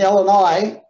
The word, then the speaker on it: Illinois: illinois first of all the s is silent in illinois unless you're asking the